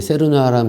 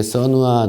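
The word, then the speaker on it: cernua: 거하고 소프트 써누와 티스 예전에 세르누아라고 했는데 세르누아라는 발음은 약간 일본식 발음이라고 하더라고요 정확한 발음하는 것은 써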